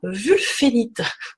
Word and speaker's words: wulfénite: Alors, cette pierre, qui a vraiment un aspect très particulier, elle s'appelle la wulfénite. Ça s'écrit W-U-L-F-E-N-I-T-E.